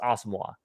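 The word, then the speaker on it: Asamoah: website Gabe Henderson he did say it is pronounced awesome wall Brian Asimov yep all right let's go to our next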